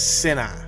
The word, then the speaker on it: Sinai: That Sinai, 2 syllables, was Sinai. The I, and I forgot what language this is, and it was spelled A-Y, meant a mound.